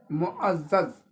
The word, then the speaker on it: معزز: بھی نہیں نکل رہا۔ اس کا صحیح تلفظ یاد رکھیں، معزز ہے، میم پر پیش ہے، عین زبر، زے